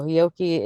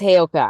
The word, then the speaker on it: Heyoka: So Hioki is an empath that is, Oh, I somebody who's pronounced it wrong. able to. Heyoki. Okay. I call it I Heyoka. could be. Yes, Heyoka.